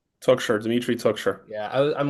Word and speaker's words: Toukhcher: Toukshire.